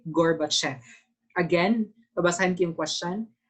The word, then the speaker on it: Gorbachev: So sino na naman yan si Mikhail Gorbachev? So in Russian kasi siya, letter V is pronounced as F. So hindi siya Gorbachev, kundi Gorbachev.